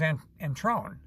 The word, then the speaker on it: Antrone: And his name, I believe, if I remember correctly, his name was Antrone. And he liked the emphasis on the second syllable.